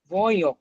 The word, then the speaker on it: voyons: almost there, voyons না কিন্তু voyons, ভয়ো, নো নো ভয়ো পার্সন।